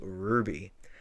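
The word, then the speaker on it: RWBY: Web series called Ruby. And As you that's do. Ruby spelled with a W, not a U. It's really weird, but Yeah. I mean, red, white, black, yellow. yeah, it's an acronym.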